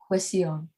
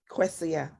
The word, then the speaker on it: Kwesia: And how do you pronounce it? Kwesia. Kwesia.